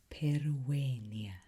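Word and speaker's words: pereat: Remember the V in the middle of this word is pronounced as a W. Periat hook. Peruat.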